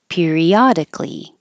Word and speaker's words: periodically: think about it prioritize periodically periodic L this a in Cali always disappears and then that c which sounds like a k will get closer to the L and sound like C periodically irritability iability both these